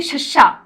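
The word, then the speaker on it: ਸ਼: तो अब हम इनका भी प्रोनाउंसिएशन देख लेते हैं। देखिए शस्सा, SHA, शस्सा, यानी पंजाबी में शस्य पैर बिंदी, शस्सा।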